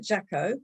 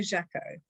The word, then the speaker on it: Jacquot: And one of them was how to pronounce this delightful lady's name. She is Margo Jacquot. I think I've got it right. Jacquot, Margo Jacquot.